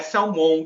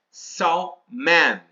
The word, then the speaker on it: salmon: Não é salmon que fala inglês, é salman. Sal man. Ok. Esse mon ele se torna um man de homem, ok? De homem inglês que seria man.